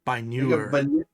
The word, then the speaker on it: Biner: Biner. Think of manure, but it's by newer.